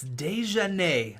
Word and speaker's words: Desjardins: Your dad in the comments, that's right, your dad, he says the coach's last name is pronounced like this, and it's Desjardins.